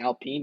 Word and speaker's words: Alpine: without with alpine uh i used to say alpine but then i heard today that people were saying alpine that's how you pronounce it so we're going to